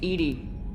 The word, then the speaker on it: EDI: have a specific inquiry why are you named Edie Ed is the phonetic pronunciation of e d i that is an